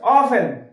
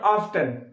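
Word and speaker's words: often: আচ্ছা অফেন, নট অফটেন, অফেন, টিটা উজ্জ আছে, এখানে টি উজ্জ, এখানে টি উচ্চ, অফেন।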